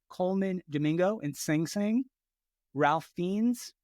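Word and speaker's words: Ralph Fiennes: Domingo and sing sing Ralph fiends or wraith fiends I think it's why you say his name conclave Sebastian Stan and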